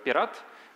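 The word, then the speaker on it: пират: uh P1 R so in Russian we pronounce it's pirat but in English it's like a pirate uh we recorded first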